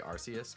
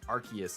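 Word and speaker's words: Arceus: I think archus is the actual correct pronunciation like people know what you mean if you say arus but I think archus is technically correct um let's open this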